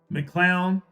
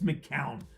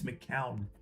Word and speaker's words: McCown: McClown. No, I'm sorry. It's McCowan. Cowan? How do you say his last name? McCowan? It's McCown. There's no L in there. So it's not McClown. It's McCown.